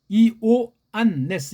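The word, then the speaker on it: Ἰωάννης: 어쨌거나 로고스를 딱 말한 다음에 이제 갑자기 여기 안트로포스 사람인데 이오안네스 이거 자음 하나하나 다 발음하셔야 돼요.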